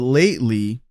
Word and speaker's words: lately: But lately, and this is interesting, lately, the way he pronounces this, he drops the T. So it is just like a glottal T sound.